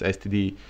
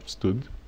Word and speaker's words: std: with std, which is C++ people pronounce it stud, like, or stud or stud or something like this. Nobody says std because of certain, I don't know, medicinal reasons, I guess.